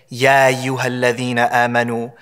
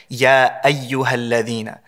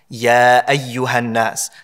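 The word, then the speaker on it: يا أيها: What happens is people say, ya ayyuha alladhina amanu, ya ayyuha nasu. They kind of just rush over the Hamza, they skip over the Hamza.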